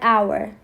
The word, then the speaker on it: hour: You can say that like h is a consonant. So why can't we put a? The H sounds like a vowel sound.